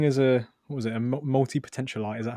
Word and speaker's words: multipotentialite: together yeah speaking is a was it a multi-potential light is that how you say it yeah yeah